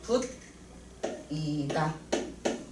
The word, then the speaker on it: 붙이다: 어 풀로 종이를 붙이다. 것도 티귿 끝소리와 모음 2가 만났네. 그래서 어떻게 발음되냐면요. 부 그대로 있고 붙이다가 아니라 구개화되어서 붙이 다 렇게 발음되는구나.